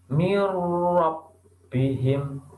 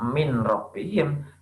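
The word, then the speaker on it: مِن رَبِّهِم: Nah, mirrobbihim tidak dibaca min robbihim, tapi dibaca mirrobbihim, langsung masuk ke huruf roknya.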